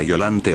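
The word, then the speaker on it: Biollante: Sé que este personaje se pronunciaba violante o violante, pero suena más cómodo decirle así.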